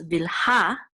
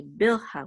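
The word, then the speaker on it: Bilhah: So the accent is on the last syllable, so it's Vilha, whereas in English we usually say bilha.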